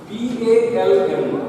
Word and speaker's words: palm: Dear friends, PALM is a word in which law sound is silent, and palm means hathi, and palm means tarkafe.